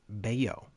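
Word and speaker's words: Bello: name the entire series it's beo Brian beo I apologize I was watching some spring training and he was pitching I didn't know they pronounced it boo Brian beo anyways he'll probably be a much better pitcher now that I can pronounce it correctly um okay so let's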